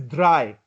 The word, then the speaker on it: drei: Let's say the word is dry. Dry. DRY. No. DRI. No. Which combination has the pronunciation dry, I, right? So, DREI. very good. DREI. EI means I, right? I.